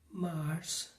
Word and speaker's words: mars: February Mars Mars So here don't get confused. It's similar to the pronunciation of the planet Mars.